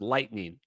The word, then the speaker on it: Litening: This is a lightning lightning camera, G4 we think. I've been saying it wrong. I It's I It's spelled Litening, but it's pronounced Lightning.